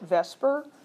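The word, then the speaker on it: VSEPR: this is AEF rated vspr we use usually pronounce it Vesper even though that's you know kind of messing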